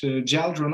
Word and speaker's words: GjeldRune: you can you could you called it gel drone okay oh for me i have to say that uh it's the most respectful pronunciation of our name oh okay well i